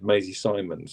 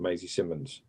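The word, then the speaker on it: Maisie Symonds: lot of people, but if the bloke next to you has said Maisie Simons 500 times, you're just being rude and unprofessional by saying Maisie Simmons, which she was constantly.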